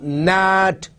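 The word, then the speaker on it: gnat: Same way, nat and nash. So G is there, but the sound is not there.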